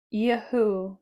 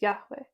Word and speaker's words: Yahweh: preferred able sacrifice of Yahoo Yahoo I think that's what it is Yahweh however I pronounced it the first time was definitely wrong Yahweh preferred able sacrifice